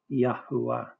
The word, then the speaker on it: Yahwa: I conclude the name of our creator is pronounced transliterated with three syllables and the contracted form is yah. The full form is Yahwa.